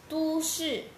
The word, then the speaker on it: 都: 都市。都市, city. City. 首都。首都, capital. Capital. Okay, and the other pronunciation of the same word is 都。都。都 here is an adverb, which means all or both.